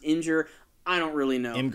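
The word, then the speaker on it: Imgur: sure how it's pronounced someone commented that it's actually pronounced injur I don't really know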